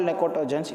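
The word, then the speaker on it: pnictogens: Why you call necotogens? It is easily suffocation. For that we call nitrogen family is also called as necotogens. P is silent.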